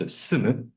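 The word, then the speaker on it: 住む: Inhabit is pronounced sumu in Japanese. The original meaning of sumu is that of to clarify oneself, sumu, and has the same pronunciation.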